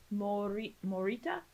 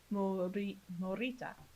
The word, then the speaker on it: Morita: Morita. Hiroyuki Morita. Morita. There we go. I was like, I'm pronouncing it with like a Spanish emphasis and not.